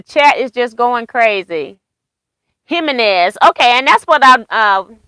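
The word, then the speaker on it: Jiménez: Jimenez. Okay, and that's what I was so... I was thinking because I thought J's were pronounced as an H, but I wanted to make sure.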